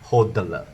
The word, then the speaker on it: HODL: and go to sleep h o d l is pronounced as hoteler hold on to their life no need to wash the